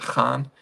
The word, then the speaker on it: Khan: We pronounce it Khan, but a lot of Americans have a difficulty with the Kha.